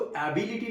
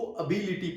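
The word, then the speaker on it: ability: उसको एबिलिटी नहीं, उसको अबिलिटी प्रोनाउंस करते हैं।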